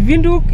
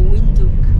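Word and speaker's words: Windhoek: The right pronunciation is Vinduk. Vinduk. Others say Vinduk, others Vinduk, whichever way. Yeah, I can say Vinduk or Winduk.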